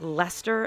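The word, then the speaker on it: Leicester: Name like Lester and Wooachir can cause tourist problems because they aren't pronounced anything like how they look.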